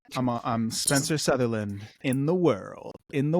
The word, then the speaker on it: Sutherland: Yeah, it's not Southerland like some people think it is. I'm not a country singer. It's Sutherland. Spencer.